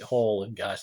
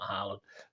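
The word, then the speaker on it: Haller: hall and disney enough pronounce it hall and guys not harlan apparently that's what i've been told uh so yeah that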